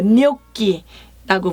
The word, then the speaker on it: gnocchi: 뇨끼라고 불러요.